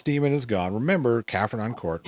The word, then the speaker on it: Caernarfon: Carnarvon, get you close enough.